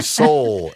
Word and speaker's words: sol: The last solfege syllable would be soul. Soul. It ends on soul.